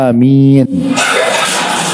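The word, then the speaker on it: آمين: dibolehkan adalah pilihannya ya yang pertama itu dengan memanjangkan huruf hamzah pernah lihat huruf hamzahnya Amin ya ada kayak ombak di atas bacanya Amin itu yang dibolehkan ya Dan ini yang terbaik kemudian ada pilihan yang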